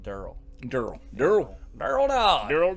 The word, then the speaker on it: Deryl: then work de ryl which it's actually pronounced Durrell Durrell der barrel down